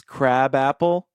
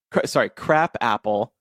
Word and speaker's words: crab apple: It is pronounced crab apple because crab is derived from the Swedish word skraba, which means fruit of the wild apple tree.